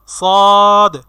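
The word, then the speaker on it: ص: সেই 3টি হরফ হচ্ছে ঝা, সিন, সদ। ঝা, সিন, সদ। আমার সাথে উচ্চারণ করার চেষ্টা করুন। ঝা, সিন, সদ, সদ। অনেকে আমরা সিন সদ একরকম করে ফেলি, সিন সদ এরকম না, সিন সদ, সিন সদ।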